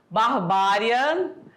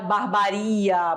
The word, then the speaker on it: barbaria: a pronúncia correta fluido barbária Olha lá já viram assim con que fala barbária barbaria palavras que não são